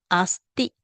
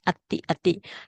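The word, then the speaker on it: atthi: Now, why is it you don't pronounce asti in Pali? All right, because Pali is a direct. Direct means that it try to like how what you call it, normal people will speak. So when we speak, we make it easy for pronunciation. So instead of asti, we pronounce ati.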